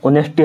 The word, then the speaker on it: honesty: कहीं पर कुछ से कुछ, जैसे ऑनेस्टी हम लिखते हैं तो HONESTY, मतलब ऑनेस्टी को हम ऐसे लिखते हैं, लेकिन एच जो यहाँ पर होता है वो साइलेंट होता है।